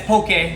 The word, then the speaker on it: Poké: That's pokey, not pokey. Pokey is zombies horsey friend. Pokey is the way we pronounce it in Hawaii.